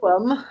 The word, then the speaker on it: Ogham: And well, Ogham, as it's pronounced, like Ogham money.